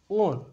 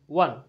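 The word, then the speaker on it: won: যদিও অনেকে এটা উচ্চারণ করে ওন, ওন হবে না, ওয়ান।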